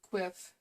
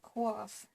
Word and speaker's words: quiff: I remember when I first saw the word quiff, I hadn't heard it before until I started having friends from the UK, and I was pronouncing it quaff. And it's not quaff, it's quiff.